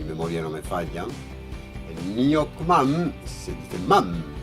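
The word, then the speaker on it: nuoc-mâm: El nyokmam se dice mam, y no porque es una palabra extranjera y tal y cual, es porque en francés no se pronuncia nyokmo, ¿vale? Es nyokmam, porque después nos sigue una B, una etcétera, ¿no?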